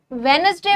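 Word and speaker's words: Wednesday: बोलना सीखेंगे कि कैसे प्रोनाउंस करी जाती हैं चीजें। देखिए मंडे आसान है। ट्यूसडे आसान है। अब हम वेडनेसडे वेडनेसडे करते हैं।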